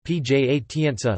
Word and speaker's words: Piacenza: Piacenza, Italian pronunciation, Piacenza, listen, Piacentino, Piacenza, Pi, Azs, Latin, Placentia, is